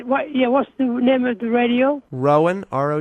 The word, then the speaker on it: Rowan: you're listening to the music that matters on row and radio is that okay how do you say what yeah whenever the radio Rowan ro w a n Rowan radio yeah and